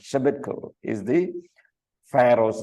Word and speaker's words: Shebitku: And then shortly thereafter, from a coalition of Western states, including Judah under Hezekiah and Egypt under Shebitku Shebitku. Okay, that's how to pronounce. Shebitku is the Pharaoh's name, right?